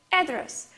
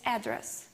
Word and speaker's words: address: Next one is address or address. Address, where she lives, in this example, where someone or something may be located. It is address. But address, it means to talk with someone directly, to have some conversation, to have some discussion.